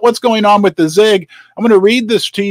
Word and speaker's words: ZiG: And this is big, and it rhymes with big. It's the ZIG, Z-I-G.